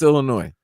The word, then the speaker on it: Illinois: He went to Illinois last year, but prior to that was on FC Barcelona. By the way, nobody pronounces the S. I was just about to say, when you said Illinois, it's Illinois.